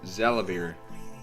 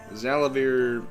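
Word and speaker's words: Xalavier: was actually confirmed that this guy's name is pronounced zalavir zalavir nelson jr seems like a nice guy additional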